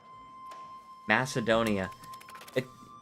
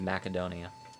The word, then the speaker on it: Macedonia: Macedonia. That's one pronunciation, sure, but the actual pronunciation is Macedonia.